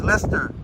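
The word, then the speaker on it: Leicester Square: century walks Lester that's Lester square and it is pronounced Lester not lychester or Leicester it's Lester I know from watching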